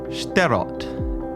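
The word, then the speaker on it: Shterot: Anyway, J, you're going to be sterott.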